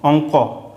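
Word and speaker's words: অঙ্ক: ইতে কয়ে ত ইং পড়ে থাকবে কতে ক অংক এবার এটা দেখো হ্যা এখানে ক তারপরে ল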